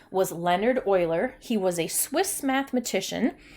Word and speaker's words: Euler: e ar e you le are and it's pronounced Euler so let's just go through and I just